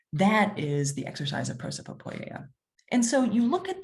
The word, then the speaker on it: prosopopoeia: And prosopopoeia is how you say it. There's a lot of P's in the word, but it translates to something like speech in character.